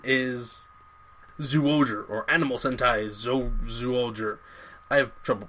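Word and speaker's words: Zyuohger: And then the current season is Zooger, or Animal Sentai Zooger. I have trouble pronouncing it, because it's a Z, but it's like Zho. Zooger.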